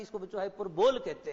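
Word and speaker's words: hyperbole: That's what we call the figure of speech हाइपरबोल in English. Clear हो गया है? यानी हाइपरबोल कई जगह इसका उच्चारण आपको हाइपरबली भी देखने को मिलता है, तो आप देखेंगे।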